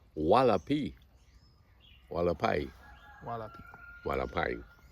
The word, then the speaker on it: Hualapai: Are you Hualapai? Is that correct? I think it's Hualapai. Are you Hualapai? I don't remember how far. Hualapai? The driver asked. It's pronounced Walapi. Walapai. Hualapai. Walapai. It's pronounced Walapai, the American said.